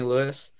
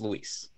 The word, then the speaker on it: Luis: I just wanted to say, Hefe, that I haven't mentioned it, but you call me Luis. My name's pronounced Luis.